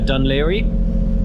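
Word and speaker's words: Dún Laoghaire: bank at the entrance you've got, uh, Dunlier. Uh, it's not spelled like that for anyone that's not seen it before. Um, it's a one of the Irish words that will catch people out.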